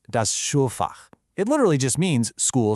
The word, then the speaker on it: Schulfach: That's pronounced das Schulfach.